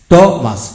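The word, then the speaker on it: Thomas: এইচ ও এম এস টমাস, টিউতে ট হয়, টিউতে কি হয় ট হয়, এম এস মাস, এখানে এইচ এর উচ্চারণ হয় নি।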